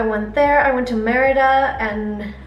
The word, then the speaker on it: Mérida: I went to Mérida, and I sound so weird saying it in an English accent. Mérida, that's how you say it in Spanish accent.